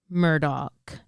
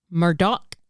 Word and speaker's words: Murdaugh: specified in the trial you can say it anyway you want to say it okay just based on